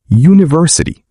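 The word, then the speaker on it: university: فاول لذلك نقول ان لكن كلمه يونفرسي تبدا بحرف يو ومع ذلك نطقها يبدا بصوت يو لذلك نقولونفرسي دي ركز المهم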